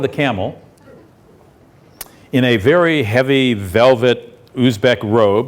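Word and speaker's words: Khiva: In the middle of the Silk Road town of Hea, it's spelled KH Hiva, but pronounced hea.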